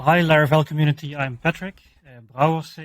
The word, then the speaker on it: Brouwers: Brouwers is my last name, which is indeed very difficult to pronounce if you're not Dutch. You can hear that the rolling R I try to pronounce as good as possible.